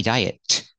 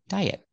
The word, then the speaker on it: diet: on a diet and the T in diet it's at the end of the word after a vowel it's a stop te don't say diet don't release a te diet he went on a